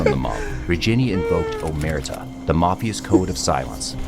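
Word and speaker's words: omertà: Omerta. Oh, that's how they say it. Omerta.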